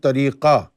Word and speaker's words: Tariqat: The 'T' on the end is silent but when we say it in Urdu, we pronounce the 'T'.